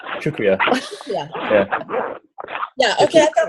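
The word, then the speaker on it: शुक्रिया: Shukriya. It's almost like sugar. Yeah. And then kriya. Shukriya.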